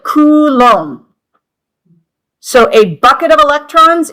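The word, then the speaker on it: coulomb: number of electrons, and that is called a kulom. Okay? It's lom like it's pronounced like comb at the end. you know a coom m a comb and the cou is coup okay so it's like kom so a bucket of electrons is one kom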